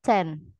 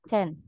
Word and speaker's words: zehn: Kalau 10 itu penulisannya ZEHN tapi dibacanya Chen. Zen. Ya, Chen.